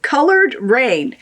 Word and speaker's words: Coloured Raine: of hearts and it's it's like colored rain so i'll spell it for you c o l o u r rain r-a-i-n-e queen of hearts it's